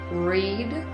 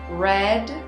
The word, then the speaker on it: read: all 10 cents also pay attention to the pronunciation of the verb read although it is spelled the same in all three conjugations pronunciation is different read present simple red past simple red past participle for example I cut